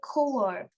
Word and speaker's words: choir: এটা কিন্তু শব্দটা উচ্চারণ হবে choir, a host of angels, a circle of friends.